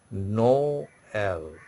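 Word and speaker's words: Noël: the next part so your pronunciation will be no l no l okay can you follow say no l so if I write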